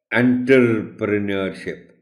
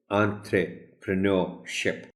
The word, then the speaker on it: entrepreneurship: صحیح تلفظ بتانا ہے، کیونکہ یہ ایک فورن ورڈ ہے، فرینچ ورڈ ہے. سو اگر جس کو نہیں پتہ اس کا تلفظ، وہ تو اس کو موسٹ پروبیبلی پڑھے گا انٹرپرینورشپ.